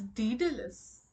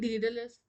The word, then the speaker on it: Daedalus: Wait, it's Daedalus. Wait, Indian English pronunciation?